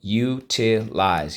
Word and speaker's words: utilize: up so let's go underline the u the i and the silent e twice draw an arrow back why exactly because in this case the silent e makes the i say i the u can say u at the end of a syllable that is rule there we go so